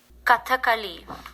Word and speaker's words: Kathakali: And so I want to thank Isha Rao for giving me the correct pronunciation of Kathakali, which means story play. Now, this was a form of dance drama, and the movement in Kathakali is stylized down to the very minute movements